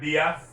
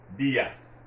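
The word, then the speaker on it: días: in terms of pronunciation you'd hear that word diaz diaz you hear me stressing that i bs why there's an accent over the i and in spanish once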